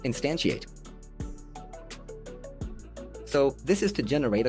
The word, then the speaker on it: instantiate: This is pronounced instantiate.